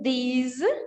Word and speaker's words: these: Lembra aqui que o these é o plural de this.